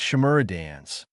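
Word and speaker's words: Shimura Danzō: I said it wrong, it's Shimura Dans.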